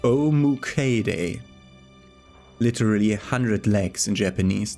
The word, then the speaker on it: Omukade: And the Great Centipede, pronounced Omukade.